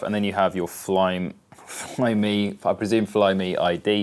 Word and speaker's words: Flyme: So, as we can see on the screen here, Flyme, I presume that's not pronounced Flyme.